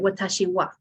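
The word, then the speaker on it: わたしは: So at the bottom where it says watashi ha, we actually awesome. pronounce that watashi wa.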